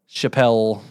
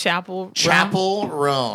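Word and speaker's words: Chappell Roan: here's you know uh Chappelle Chapel oh my God we've said her name wrong like so many times it's chapel chapel R but I said Chappelle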